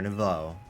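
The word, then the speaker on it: Nouveau: He's nothing but an obstacle to all the goals we hope to achieve for Team Flare Nvo. That is how you pronounce it.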